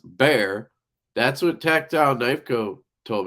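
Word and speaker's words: Bexar: tactile knifeco told me it's pronounced bear that's what tactile knifeco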